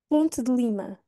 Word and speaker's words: Ponte de Lima: de Lima lá está temos outra vez dois é finais que não vamos pronunciar ponte ponte eu não digo ponte é é Ponte de Lima de Lima Eu quase não pronuncio o ali o d quase uma ponte para Lima Ponte Lima este aqui eu uso